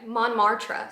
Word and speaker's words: Montmartre: So I think that's how you pronounce that. I've been there in Paris, and I'm still not sure if you pronounce that the way I just said it. Hang on, let's look that up. Let's educate ourselves real quick. Montmartre. Okay, Montmartre. So that wasn't too bad.